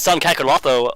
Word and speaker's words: Kakarot: I think that's maybe the Japanese like pronunciation of how to say it. But I've always. Oh, my bad. It was always Kakarot to me.